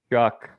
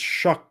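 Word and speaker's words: Shough: So, we're relying on some combination of Spencer Rattler and Tyler Juck. That's not how his name should be pronounced. No, I I've had listened to a thousand times. It's Shuck, but I always thought it was like Shiao Sha.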